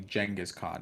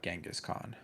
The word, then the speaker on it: Genghis Khan: if i'm not mistaken the pronunciation is actually jenga's khan not genghis khan is it i said